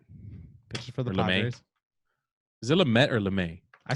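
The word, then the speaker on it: Lamet: have denison lumet pictures is it lumet or lemay i say lumet let's check it out i think he'll be all right man the way that we pronounce it oh man d nelson la met okay um next trevor bauer is my number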